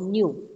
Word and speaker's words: nu: frequency is mu this is how it is pronounced nu how will you pronounce it with a new